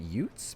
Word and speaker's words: ute: Smaller car smaller called utes pronounced ute.